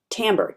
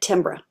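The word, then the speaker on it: timbre: the genre uh sorry not tamber which is spelled t m b r e tamber tamber t i m b r e doesn't it looks like tambra okay we've talked about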